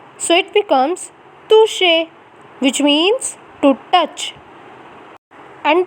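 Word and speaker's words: toucher: next is to say the pronunciation of ch is sha so it becomes toushe which means to touch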